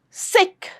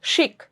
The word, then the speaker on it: sick: Sick. Sick. Don't say it as shik. Shik leave. No. Sick.